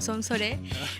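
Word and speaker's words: 송서래: Bueno, se escribe Song Seorae, que yo me acuerdo que lo mencionaban así como Song Sore.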